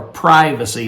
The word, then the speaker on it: privacy: Simply dealing with the subject of privacy, or privacy as some would pronounce it, in giving in private.